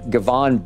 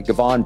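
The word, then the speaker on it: Givon: public with his name, Gavon Busby. It's G-I-V-O-N, I hope I'm pronouncing it the right way. Gavon Busby.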